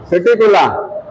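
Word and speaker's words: Psittacula: Parrot parrot सिटीिकुला ये silent है।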